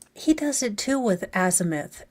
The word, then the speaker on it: azimuth: He does it too with azimuth. It's azimuth. Like you don't have to overpronounce the I. It's just azimuth.